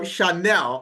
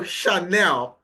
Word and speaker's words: Chanel: I'm right it's it's Chanel okay Chanel I'm right okay so Shanel okay okay all right the the H is silent you know maybe I'll